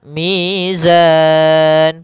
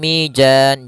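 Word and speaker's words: ميزان: Kemudian mizan pada lafal zan mad arid lukun. Hati-hati jangan sampai mijan. Jangan dibaca dengan jim jangan pula dibaca dengan dalan dengan dzal. Tapi di sini huruf zai harus jelas zanya.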